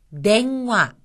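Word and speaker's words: でんわ: 발음납니다 처음에 나온 것은 냉화 냉화 여기서는 응이 이응으로 발음이 났죠 전화란 뜻입니다 냉화 그다음은 템프라 템프라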